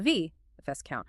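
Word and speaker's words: viscount: Like vice count, spelled v i s c o u n t. Your brain sees discount with a v count, but it's actually pronounced v count. It drops the s entirely in speech because etmologically it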